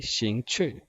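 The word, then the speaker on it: 兴趣: शिंग छुई क्योंकि दोनों पे आप देखिएगा फोर्थ टोन है, तो दोनों डिसेंडिंग ऑर्डर में हमारे पास ऐसी प्रोनाउंसिएशन आएगी शिंग छुई.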